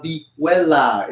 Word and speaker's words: vihuela: This is known as the vihuela. It's spelled V-I-H-U-E-L-A.